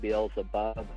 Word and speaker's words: Beelzebub: There's two pronunciations. There's Beelzebul and Beelzebub.